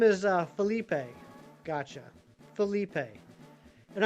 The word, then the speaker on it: Felipe: His name is uh Felipe. Gotcha. Felipe. And I know it's pronounced Felipe and not Phillip because there's an E on the end.